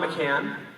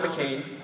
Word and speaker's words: McCann: so again my name is McCann it's not McCain and it is not McLean either I know during the